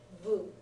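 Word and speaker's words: ヴ: invention CL Vu yes it's Vu This Is How They render a v sound for the Japanese people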